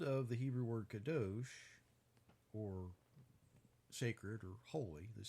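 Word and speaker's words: קָדוֹשׁ: or sacred or holy, the sound of the Hebrew pronunciation, kadosh, might sound like another word that you might be familiar with, you might have heard, because it kind of sounds like kosher, right?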